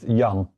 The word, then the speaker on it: Jan: What It's a soft yay. It is Jan. Yeah, Jan? you might spell it with the Y, the The English why.